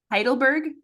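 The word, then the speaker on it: Heidelberg: on to Sunday November 12 a oh boy heidleberg holiday is that how you say it yes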